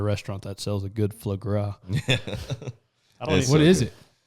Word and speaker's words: foie gras: That Faux Gras at Otto's. Faux Gras or whatever it's called. I don't know how to say it right. I'll call it foie gras. Yeah. Foie gras.